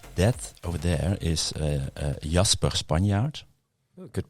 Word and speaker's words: Spanjaart: That over there is Jasper Spanjaart. Oh, good pronunciation this time. Yes, usually it's Jasper Spanjaart.